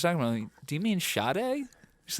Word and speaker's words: Sade: really good who is this and she goes Sade and I instantly went I in I knew who she was talking about do you mean shade she's like wait what I'm like yeah Shade